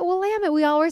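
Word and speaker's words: Willamette: wamit Valley she's like that's how you say it wamit we all were saying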